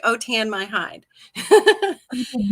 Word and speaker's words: Autin: French that's why Au t i n is pronounced otan like otan my hide you did not know that my